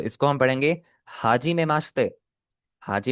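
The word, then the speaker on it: はじめまして: Make sure that the ई इन माश्ते is silent. ठीक है? तो ये आपका सिमिलर साउंड करेगा माश्ते से। माश्ते। बीच वाला ई हट ही गया है।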